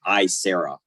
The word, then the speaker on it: Aisera: new um AI vendor just this quarter called I Sarah and it's spelled a-i-s-e-r-a uh what they bring to the